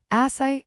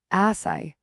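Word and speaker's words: açaí: Derived from the Tupi guarani language indigenous to the Amazon basin, asai. Note the acute accent crucial to its pronunciation reveals its roots in the word asai, meaning the fruit that cries.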